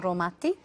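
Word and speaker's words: Raumati: Yeah, Romati.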